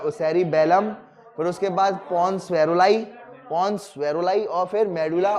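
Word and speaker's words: Varolii: VAROLI, VAROLI, इसे कहेंगे वेरुलाई, VAROLI, वेरुलाई। तो ये हो गया पॉन्स वेरुलाई, ठीक है, क्लियर है।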